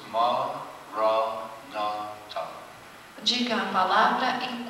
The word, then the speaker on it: Maranatha: And say the word as 4 syllables, ma, ra, na, ta. Diga a palavra em 4 sílabas iguais. Maranatha.